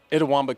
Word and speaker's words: Itawamba: go to school i'm going to let you pronounce the name of the school you attended itawamba community college itawamba community college thank you for that so you